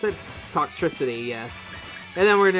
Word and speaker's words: Toxtricity: Is that how I pronounce it? Toxtricity, yes.